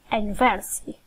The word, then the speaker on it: university: The U in university is pronounced with a long U sound, which sound is like U, okay, and is written as J in the phonetic alphabet. So, although the letter is a vowel, it isn't pronounced like one in university because it doesn't have a vowel sound. We therefore say university.